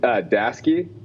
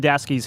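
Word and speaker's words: Daseke: Is it Dasky? Am I pronouncing that right? Yeah, Dasky.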